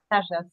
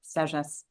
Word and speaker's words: Sagesse: Is that how you pronounce Sagesse. it? Sagesse. It's a French word for wisdom. Sagesse.